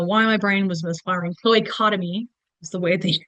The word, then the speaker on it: cloacotomy: Cloacotomy is the way they pronounce that word.